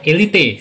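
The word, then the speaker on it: Élite: Karena pengejaan bahasa Spanyol Elite ya, kalau Inggris kan Elite.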